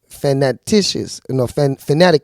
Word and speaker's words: fanaticus: So fanatic is Latin fanaticus. That's how you say it.